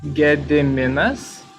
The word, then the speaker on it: Gediminas: cut a little bit more how to correctly pronounce my name it's ge de menas kiss get the monastery we've been